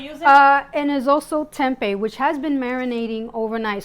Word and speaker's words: Tempeh: in Arizona no well it's actually kind of spelled the same it's actually with an H at the end or just to eat either way so the Tempe is it's very tempting